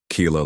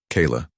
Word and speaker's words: Keila: And even those, they pronounced it wrong. Keela. Keela with a Y? No. Keela with I.